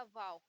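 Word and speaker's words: و: यहाँ गोल कर देंगे तो ये हो जाएगा वाव, यानी वाह।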